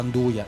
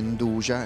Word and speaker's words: 'nduja: spilingesi avessero tipo anche la pronuncia del nome 'nduja, e solo qua Spilinga si pronuncia così, derivasse, ecco, proprio questa J letta come già.